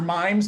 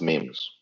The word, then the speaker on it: memes: if it's memes or mimes does somebody want to correct me is it actually memes mimes i forget i don't really know i'm not it's pronounced memes memes thank you cool yes abdul of